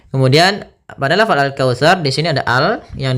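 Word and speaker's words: الكوثر: lafal taa ini hati-hati jangan sampai kita membacanya dengan syin maaf syin atau dengan Syar gitu ya atau dengan Sar gitu dengan sin dia harus daripada huruf tsa tsa makhrajnya ujung lidah kita ujung lidah nempel dengan ee gigi atas gigi seri atas sehingga dia terdengar dengan tsa dengan jel baik tsa tsa tsi maka alkautar alkautar Ar maka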